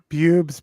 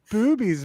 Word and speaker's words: Boobies: I thought it was Bubes Brewery is how I had been pronouncing it. But I've been told this evening that it's Boobies Brewery.